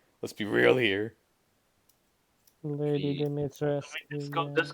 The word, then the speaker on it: Dimitrescu: Because of Lady Dimitrescu Urza edition. Lady Dimitrescu Urza edition. Okay. Dimitrisk.